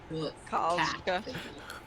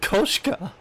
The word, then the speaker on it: Koshka: Kalska. Is her name Yuna- really that hard to pronounce? It's just Koshka.